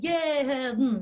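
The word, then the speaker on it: יעדן: The first syllable, jeden, okay? So that's how we say it, jeden.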